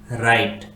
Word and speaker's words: write: R आता है तो उस वर्ड में W साइलेंट होता है, जैसे कि WRITE राइट, WRONG रोंग, WRIST रिस्ट, WRING ring, WRINKLE रिंकल।